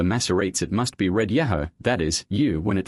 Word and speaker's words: Yahu: On the one hand, we may gather from the contemporary Assyrian monuments that it was pronounced Yahoo.